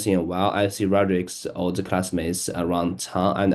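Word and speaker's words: Rodrick: withell spell to you r o d r i c pronounce name let gu name that's pronounced rodri he's Greg's older brother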